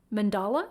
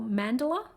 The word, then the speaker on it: mandala: They just called it, I hope I get this right, a water mandala or mandala. They're just showing me the words water. I'll spell it for you, M-A-N-D-A-L-A.